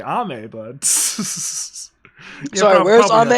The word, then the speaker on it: Ame: I thought it was called AIM.